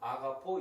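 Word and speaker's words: ἀγαπάω: 숨표 가 있든 없든 , 발음 은 여전히 " 아가파오 " 입니다 .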